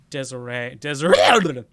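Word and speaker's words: Desirée: I think that's A, yeah. Desiree. Like fiance.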